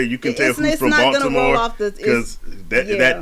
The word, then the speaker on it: Baltimore: It's like people up here when they say Baltimore, they don't say the T. They just say Baltimore.